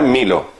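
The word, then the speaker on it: μήλο: Claro, la manzana en griego se llama milo. Se pronuncia milo, la manzana.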